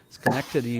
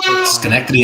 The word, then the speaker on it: Schenectady: and graduated magna laude from Union College in Schenectady New York Dr Schwartz focuses on back pain